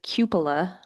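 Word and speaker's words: cupola: And I looked up it's cupila at least that's how it says that that's how you pronounce that word.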